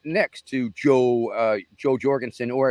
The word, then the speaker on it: Jo: and I was seated right next to Joe Jorgensen, or as my Norwegian friends say, the correct pronunciation, of course, is Yo Jorgensen.